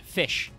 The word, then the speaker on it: Ghoti: at the top says goti uh and I say it's pronounced fish uh so this is